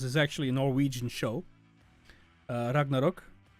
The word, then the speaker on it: Ragnarök: Well, to be fair, if I one of my favorite shows is actually a Norwegian show, Ragnarok, or Ragnarök, if you want to pronounce it more properly, I think.